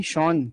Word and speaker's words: Sean: शॉन, शॉन the sheep याद है? अब वो स्पेलिंग अलग थी, बट वही वाला शॉन है ये।